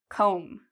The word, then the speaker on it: comb: Do you hear the B sound? Comb. No, there's no B sound because again, we have this M.